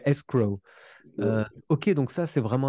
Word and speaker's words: escrow: ça c'est j'avoue que faut bien prononcer le W quoi bien le prononcer le W escrow ok donc ça c'est